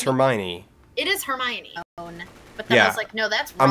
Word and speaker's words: Hermione: kinda not that far that's how they say it in the movie yeah that is right but in my head I was thinking it was her Mayan her my Annie it's Hermione's like no